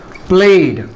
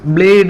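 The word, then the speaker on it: played: past tense என்ன சார் பிளேட் பிளேடு இல்ல பிளேட் take டேக்னு இதை உச்சரிக்க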